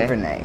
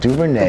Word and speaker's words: DuVernay: Ava DuVernay, is that how you pronounce it? Ava DuVernay. DuVernay, yep. DuVernay.